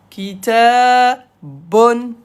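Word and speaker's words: كتاب: Ça veut dire on ne prononce pas la dernière voyelle. Kitabun, on le prononce kitab.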